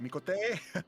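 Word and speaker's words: Miqo'te: Mikote! Mikote! Mikote! Mikote! Mikote! It's like Italian sounding.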